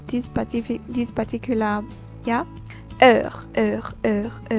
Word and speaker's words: heure: So only time, I'll pronounce this particular, yeah, heure, that the way you pronounce it.